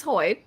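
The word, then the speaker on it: Hoid: He does say his name is Hoyt.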